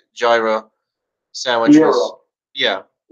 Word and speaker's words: gyro: Euro. Yeah, The way I've heard it pronounced is euro.